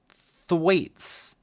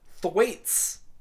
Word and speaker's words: Thwaites: Thwaites. Look, I know you need a name that would rhyme with Gates, but why are you making children read the name Thwaites?